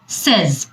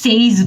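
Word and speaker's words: says: এর পরের শব্দটা হলো সেজ। আমরা কিন্তু অনেকেই এটাকে সেইজ বলি, সেইজ কিন্তু কারেক্ট না। হি সেজ হি উইল গো দেয়ার, এটা কারেক্ট, সেজ।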